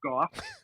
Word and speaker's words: Gough: Also, another way to remember my name is No Cough Gough.